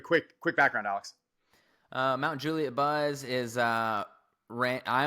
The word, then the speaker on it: Mount Juliet: This is Mount Juliet. Yeah. Yeah. Mount Juliet. Okay. Okay. Um and uh Yeah. So, why don't you tell everyone about uh yourself? Give a quick quick background, Alex. Uh Mount Juliet Buzz is uh ran I am one of